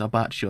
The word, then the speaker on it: Abbacchio: It's Abbacchio is how you say his name.